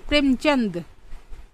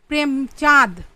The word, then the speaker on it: প্রেমচন্দ: অনেকে লিখতে চায় প্রেমচাঁদ। না প্রেমচাঁদ। এভাবে লেখাটা ঠিক নয়। কারণ তিনি একজন সম্মানিত হিন্দি সাহিত্যের লেখক তিনি নিজে লেখেন প্রেমচন্দ চ দন্তন নয় দয় চন্দন নয় চন্দ উনি উচ্চারণ যেভাবে করেন আপামর হিন্দি সাহিত্যিকরা যেভাবে উচ্চারণ করেন মুন্সী প্রেমচন্দ আমরাও সেরকমই বলব হিন্দি ভাষা সাহিত্যের বঙ্কিম